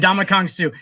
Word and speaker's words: Ndamukong Suh: His first name is pronounced in Donkey Kong. And Donkey Kong's and Donkey Kong, a boy named Sue. A boy named Sue, yeah. And Ndamukong Suh.